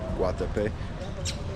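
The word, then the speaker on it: Guatapé: I was saying it wrong earlier. Guatape.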